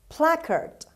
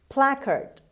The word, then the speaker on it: placard: word number seven placard placard placard the stress is at the beginning means a notice to